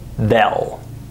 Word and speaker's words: they'll: the words they will when we say this word at normal speed we don't say they'll we say bell listen one more time vel notice that there's no a sound there's an e sound listen to these examples